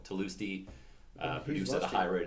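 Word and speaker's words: Tlusty: For the longest time, I thought it was Lusty, but no, Tulusty produced at a high rate as well.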